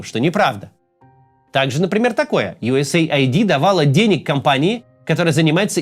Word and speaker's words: USAID: бред больше всего неправда Он рассказал про usaid Кстати это именно так читается не usaid usaid это агентство по внешней